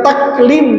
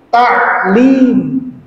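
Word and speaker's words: تعليم: Padahal kalau secara bahasa Arabnya dia adalah bukan taklim tapi ta'lim.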